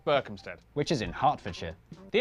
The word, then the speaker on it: Berkhamsted: And the R sound in... Oh, this is disgusting. Oh, sorry, Berkhamsted.